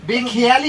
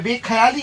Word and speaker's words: বেখেয়ালি: আরেকটা জিনিস কি বলে, তুই বাঙালি হয়ে বাংলা প্রোনাউন্সিয়েশন ভুল কি করে করিস রে? কেন গো? বেখেয়ালি হবে, বেখেয়ালি। হিন্দি কেন বলছিস?